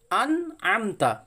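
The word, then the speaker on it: أنعمت: আনআমতা, প্রথমে আছে হামজা, তারপরে আছে আইন। সুতরাং প্রথমে হামজাকে হামজা বার করব, তারপরে আইনকে আইনের উচ্চারণ বার করব।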